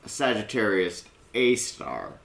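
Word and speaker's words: Sagittarius A*: because it is pronounced Sagittarius AAR but that star is actually an asterisk basically back in 1954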